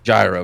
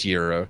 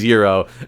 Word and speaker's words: gyro: okay I'm gonna ask you how do you pronounce the delicious Greek sandwich oh it's so people called gyro but it's gyro so I I completely agree with you it is gyro and I always like it into argues that